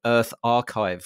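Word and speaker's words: EarthArXiv: And that is your co-founder of something called Earth Archive, which is spelled ARXIV, which is a non-profit preprint server for the earth sciences.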